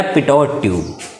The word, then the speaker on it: Pitot: पिटोट ट्यूब। क्या बोल दिया गया? पिटोट ट्यूब। इसको बोल दिया गया पिटोट ट्यूब। क्या स्पेलिंग देख लेते हैं?